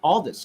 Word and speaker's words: Aldis: Aldis, correct? Did I say it correctly? Right. Yeah. If you're having trouble remembering it, just remember when you get Nick, you get all this.